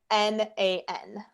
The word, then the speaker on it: Magnan: So it's Sabrina and then Magnan, Magnan. It's French. Yeah, I love the pronunciation of it.